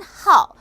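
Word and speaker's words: 号: 월은 발음이 위에, 일은 하오. 자, 이 아이는 뭘까요? 르. 얘도 일이라는 발음인데 하오는 발음하기가 쉽죠. 그래서 해야에서 굉장히 많이 쓰이고 르는 말 그대로 아나운서들이 공식적인 자리에서 공식적으로 쓸 때는 르를 사용한다. 발음하기 어렵기 때문에 이 말은 이꼴보다 책 속에 많이 나온다. 자, 저는 여러분들에게 쉬운 표현을 기억을 하라고 말씀드리고 싶어요. 그래서 하오로 외우시기 바랍니다.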